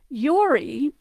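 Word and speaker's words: Jori: But in Val Giudicari, you will see it often spelled J-O-R-I, Yori, even into the 19th, and I think even into the 20th century.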